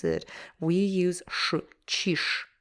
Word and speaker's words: чиж: So here, чиж ends with zh, but when we pronounce it, we use sh, чиж, чиж, чиж.